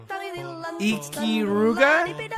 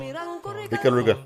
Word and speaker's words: Ikaruga: Ikiruga? Nope. How do you pronounce it? Ikaruga.